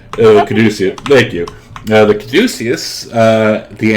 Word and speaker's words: Caduceus: Yeah, Probably won't be able to Oh, pronounce his- Caduceus. Caduceus.